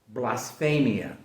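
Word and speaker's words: βλασφημία: So this word in Greek is pronounced blasphemia. Blasphemia.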